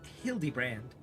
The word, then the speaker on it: Hildibrand: It's pronounced hildy brand.